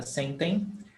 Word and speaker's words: sentem: em, pode aplicar para sentem? Tipo sentem, não comum. Sentem. No, Carol, when you have sentem, this em is pronounced em. It's not pronounced em. It's only pronounced em at the end of the word.